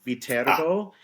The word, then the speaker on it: Viterbo: Yeah, actually, it's the name of the university is pronounced Ah, Viterbo. It Viterbo. originates from a small city in Italy There is a city named Viterbo, Okay.